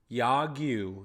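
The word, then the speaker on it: 야구: So anyway, Yagyu, that's how you pronounce the word for baseball in Korean, South Korean.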